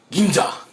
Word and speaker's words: Ginza: going ginza ginza tokyo ginza district ginza okay i have to say it like that see you'll realize how to say japanese words now most japanese consumers